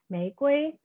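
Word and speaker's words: 玫瑰: To push this reading further into the realm of the oral, we can see that the Mandarin pronunciation for rose, mei gui, sounds eerily similar to that of America, mei guo, especially if sung out loud.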